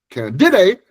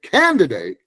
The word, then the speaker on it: candidate: But if you put the accent in the right place and you say candidate, then people will understand you because we we listen for the accent for the stress on one syllable.